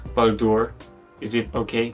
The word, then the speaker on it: Baldur: so cool and I'm not sure if I'm pronouncing Baldur is it okay Baldur yes and as for Ori calcum this bait